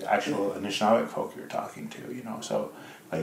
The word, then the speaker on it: Anishinaabe: My five-year-old reminded my older son, we're not Nish. You have to say the word properly. We are Anishinaabe. Nice. And each syllable means something and talks about who we are.